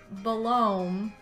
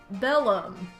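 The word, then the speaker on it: Belome: what I just said on occasion you may see someone pronounce it balom but the proper way is Bellum take care to pronounce that o correctly wow solid thanks game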